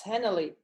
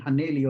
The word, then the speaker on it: Henley: that no no but i've been saying it wrong right i'm saying haneli all the time it's henley that also works like i said polymorphic